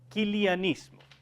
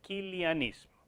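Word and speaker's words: quiliasmo: julián ismo y que para castellanizar lo se pronuncia kilian ismo se puede poner con jota porque esa es la realidad si se pronuncia y como la mayor parte de los teólogos más influyentes son alemanes entonces ustedes lo van a encontrar en libros como ch pero que en alemán se pronuncia como una j al castellanizar lo propiamente se dice kilian ismo ok y eso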